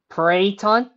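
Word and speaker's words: peryton: Okay, in case any of you guys are wondering, if you've never heard of a Pryton, which is spelled P-E-R-Y-T-O-N, they're these mythological hybrid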